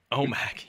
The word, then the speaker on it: OMAC: yeah right but anywho so how do you pronounce omac right oh Mac yeah that's right but we did get our